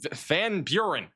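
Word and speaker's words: Van Buren: And there is a new tornado that is going to try to form here going up towards Van Be Van Burren. Almost said it wrong again.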